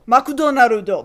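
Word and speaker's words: マクドナルド: of McDonald's in Japanese which if you just phonetically sound it out is makon narudo makudonarudo but although that is way too many syllables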